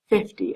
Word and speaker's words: fifty: to fill out papers early now one thing that I know we talk about in class is pronouncing 50 right so three fifty f i f t y 50.